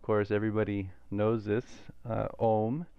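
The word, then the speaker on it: ॐ: everybody knows this uh om is not just two sounds it's not o and um it's three sounds because within the o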